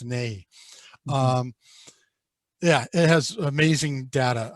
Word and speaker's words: INEGI: spelled Inegi, and it's pronounced Nei.